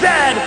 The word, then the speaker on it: zed: a Chesterfield is a coach and it is pronounced Zed not z z canot is the second largest